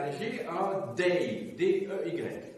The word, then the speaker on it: Dey: Vous aviez à Tunis un Bey, B-E-Y, et vous aviez à Alger un Dey, D-E-Y, un D, un B, un D, pour être audible que j'ai les prononcer en distinguant donc les voyelles.